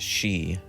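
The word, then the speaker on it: 四: number four is very unlucky in Japanese culture pronounced she this can also mean death when giving gifts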